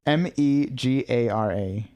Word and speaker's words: Megara: It's Megara.